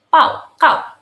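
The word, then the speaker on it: 报告: Presentasi itu Mandarinnya adalah pao, kau. Kalian bisa dilihat di sini ya. B dibacanya dengan P, sedangkan G dibacanya dengan K.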